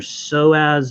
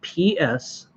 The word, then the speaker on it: psoas: energy is going to be down in your psoas muscle. It's spelled PSOAS.